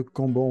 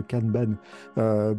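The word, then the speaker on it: kanban: son organisation en colonne on parle de cambant ou de caneban pour le prononcer aussi en japonais c'est une formulation en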